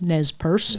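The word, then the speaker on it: Nez Perce: how you correctly pronounced nesp Pur the tribe NES purse and that's how they pronounce it because it's a French word the French gave the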